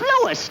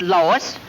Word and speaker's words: Louis: Me name is Louis, not Lois. Chief Whiz, everybody interpolates me name wrong. It's Louis.